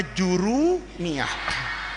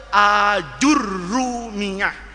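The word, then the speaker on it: الآجرومية: Anak-anakku, kamu di kelas 3 ngaji kitab yang namanya jurumiah. Itu Jurumiah itu istilah Indonesia orang Melayu kita sebetulnya itu dibacanya aljurrumiyah. Jadi alifnya itu panjang a. Jimnya dibaca pakai dommah. Aju rnya dikasih tasdid.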